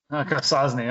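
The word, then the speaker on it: Akwesasne: So we'll do Essex as well as Newcomb, Argyle, and I don't know how you pronounce it. Aquasans. Aquasasni. Aquasasni.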